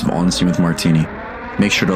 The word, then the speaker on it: Martini: Is your last name Martini? Yeah. Yep. Is it really? Yeah, just like the drink.